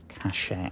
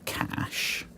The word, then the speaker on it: cache: but or cashache I is it cashache or cash? I don't know if the E is silent. Cache. That looks like a cache. There we go. Very nice. I I think it might be cash.